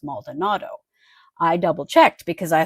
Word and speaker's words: Maldonado: It is not Maldiniro, it is Maldonado.